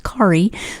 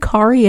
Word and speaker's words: Kari: name is spelled but her name is pronounced Akari so whenever I look at the book and I see ka RI my brain automatically thinks khari so if I said Carrie at any point in